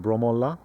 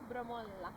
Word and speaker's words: Bromölla: We would normally say it is like Bromölla, but here they have the emphasis on the last... What do you call it, Cha? The last part of a word? Bromölla. No, what do you call the last part of a word? Syllable. Is it a syllable? Yeah, so like the last syllable is sometimes extended and more powerful.